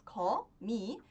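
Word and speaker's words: 거미: k Então essa é a minha primeira sílaba co em seguida a minha próxima sílaba é a sílaba mi com mi canar ma tem o mesmo som né mesma consoante só que ao invés de ser a vogal a é a vogal i m Mia m mió mumio m mu M mi então a junção das sílabas co mi forma a palavra comi que significa Aranha então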